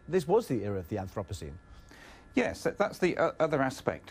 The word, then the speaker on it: Anthropocene: vote on the Anthropocene epoch how do we pronounce it professor Anthropocene Anthropocene okay so Rebecca God got it right